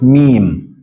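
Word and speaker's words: ميم: written like this me m comes from your lips just meme it can sometimes be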